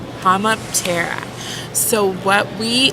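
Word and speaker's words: Homoptera: flies and then cicadas the taxonomic name is homotera hammap Terra so what we how we spell it is h-o-m-o-p-t-e-r-a and then from there an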